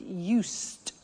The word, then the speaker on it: used: I said used with a T sound.